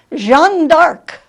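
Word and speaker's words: Jeanne d'Arc: history Joan of Arc sometimes if you take her French pronunciation it's Jean d'Arc Jean d'Arc she was from ram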